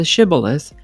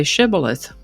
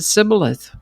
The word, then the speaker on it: shibboleth: The Gileadites pronounced the word with the sh sound shibilith. But the Ephromites pronounced it cibilith without the sh sound.